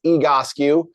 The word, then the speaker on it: Egoscue: will be tested on the spelling and the pronunciation. So I like how you got it there. So it is Egoscue.